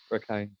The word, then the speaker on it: Rakhine: Is that how you pronounce it? Rakhine. Yeah, yeah. Rakhine.